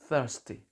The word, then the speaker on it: thirsty: i'm thirsty Saya haus jadi cara pengucapannya adalah menggigit lidah sedikit thirsty I thirsty lanjut kata ada